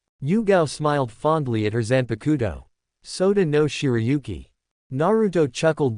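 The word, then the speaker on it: Zanpakutō: What's that Zanapato thing? Eno asked saying it wrong. Zanakudo Jeriah corrected.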